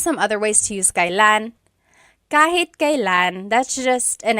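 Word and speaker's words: kailan: It's pronounced kylan. Kylan, but you will often hear it pronounced Kellan.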